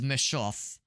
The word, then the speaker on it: Messhof: And by the way, same developers as um how do you pronounce it? So the name of the developer is Meshoff.